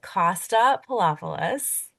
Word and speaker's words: Costa Poloupolous: We have Costa Poloupolous.